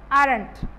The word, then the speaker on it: aren't: Okay, O is silent in this feature, aren't.